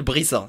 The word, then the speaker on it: BBrissa: Et ce qui s'est passé, c'est que tu vois, il y a un rappeur, il s'appelle Brissa. Ça s'écrit Bébé Rissa.